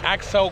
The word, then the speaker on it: Accel: It's an Accel coil. It's spelled A-C-C-E-L.